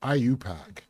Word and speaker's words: IUPAC: The group ultimately became known as the International Union of Pure and Applied Chemistry or IUPAC, pronounced IUPAC.